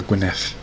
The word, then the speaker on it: Gwynedd: Gwynedd, or Gwynedd, I should pronounce it.